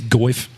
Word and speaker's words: Geoff: I think it's Goif. It's a hard G.